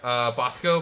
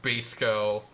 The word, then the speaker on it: Basco: like that i say i say bosco most of the time so that's how i pronounce my name but yeah bosco even though technically with how how the origin of the name originated it probably would be more like basco but you know bosco